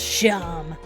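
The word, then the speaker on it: Seam: The name's Sham. Yep, pronounced Sham.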